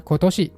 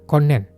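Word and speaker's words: 今年: Misalnya kayak kanji tahun ini tuh bacanya Kotoshi bukan konen.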